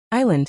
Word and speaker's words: island: Some learners also pronounce every letter, but English often has silent letters. For example, knife silent K, island silent S, and honest silent H.